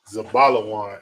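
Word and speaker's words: Zebulun: the Hebrew it means the bottle is pronounced zabalawan in the Hebrew it's a balawan and the Hebrew okay and it means dwelling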